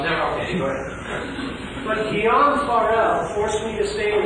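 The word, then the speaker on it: Guillaume Farel: Guillaume Farrell. Did you say it correctly, please? Yeah, that's correct. Guillaume Farrell.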